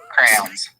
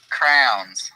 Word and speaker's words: crayons: Crayons. Crayons? Oh yeah, CRAY, not W. CRA. Crayons. Wait, what do you say it? Crowns.